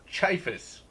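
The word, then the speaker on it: Ciaphas: listen to it at work, and so it's pronounced Chiphus.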